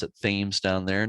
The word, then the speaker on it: Thames: They do pronounce it Thames down there, not Thames like in England.